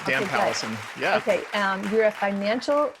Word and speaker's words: Pallesen: So this week I have Dan Pallesen. Am I saying it right? That's right. Yep. Dan Pallesen.